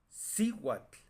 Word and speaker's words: cihuatl: Cihuatl, la si.